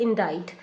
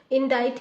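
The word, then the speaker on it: indict: मतलब क्या होता है इन डाइट में आप देखेंगे सी आपका साइलेंट है सी का हम साउंड यहां से नहीं आ रहा है इनडाइज इनडाइज का मतलब ऑफिशियल उस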